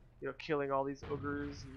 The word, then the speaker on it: Uyghurs: Ogres. That's how you say it. It's ogre. I've had many Chinese people pronounce it for me, and they say ogre. Ogre like booger, unfortunately, but these are the